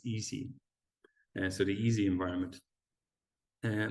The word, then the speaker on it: EESSI: little bit right so the way we pronounce that is easy so the easy environment